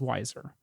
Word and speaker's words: Wiser: this happen um and that brand you couldn't pronounce wiser uh that is the correct name is wiser um I've never heard